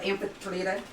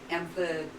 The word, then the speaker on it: Amphitrite: Yeah, I think that would be Amphitrite, or Amphitrite. Because Iota can be pronounced either I or E, like bead.